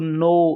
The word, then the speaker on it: know: तो चलिए बच्चों, यहाँ पे लिख रहे हैं KNOW, नो, नो मीन्स जानना। KITCHEN, किचन मीन्स रसोई घर। ऑनेस्ट, ऑनेस्ट मीन्स ईमानदार। डम, डम मीन्स गूंगा। और डाउट, डाउट मीन्स संदेह। तो यहाँ पर बच्चों जहाँ जहाँ लाल निशान लग रहा है वह अक्षर इसमें साइलेंट है। यहाँ K, T, H, B और B।